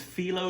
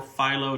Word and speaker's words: phyllo: It uses filo dough or pho dough, however you want to pronounce it.